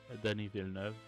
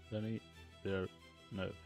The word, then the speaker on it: Denis Villeneuve: Celine Dion, Denis Villeneuve, that is like finishing Dune right now, and